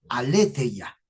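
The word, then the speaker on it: aletheia: La palabra verdad en el griego se escribe aleteya, así como suena aleteya.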